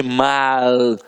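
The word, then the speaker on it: mau: Não existe essa história de mal. Ah, então mal com U é mal, mal com L é mal. Não, isso não existe, a pronúncia é a mesma.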